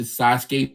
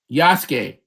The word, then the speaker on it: Yasuke: Um, Sat down and finally watched the Sasuke trailer for Netflix. The what? It's cool. It looks okay. What is it? It does Sasuke, or am I saying it right? Yasuke, Oh, pfft, the Black Samurai.